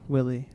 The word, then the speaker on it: Willey: how do you say your last name Willy Willy Willy a free wheelin no holds